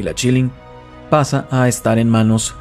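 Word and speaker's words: Qilin: y descubrí dos cosas se pronuncia chilling pero se escribe con q killing y 2 esta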